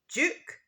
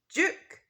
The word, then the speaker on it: duke: the Duke of Sussex so in British English we say duke Juke but in American English we say duke Duke you might notice that the